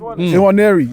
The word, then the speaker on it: Nwaneri: Nwaneri. That's embarrassing. I'm Nigerian, I can't even say it. Lord Jesus. It's not embarrassing. Nwaneri, yeah.